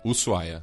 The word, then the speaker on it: Ushuaia: Ushuaia é a pronúncia.